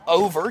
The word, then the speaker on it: Ober: the mountain in Gatlinburg actually it's over Gatlinburg but it's spelled over o b e rre Gatlinburg don't ask me